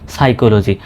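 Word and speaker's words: psychology: পি এস ওয়াই সাই সি এইচও ক এলও জি ওয়াই জি সাইকোলজি। স্বাভাবিকভাবে যদি বানান করেন তবে এটার উচ্চারণটা এরকম হয়।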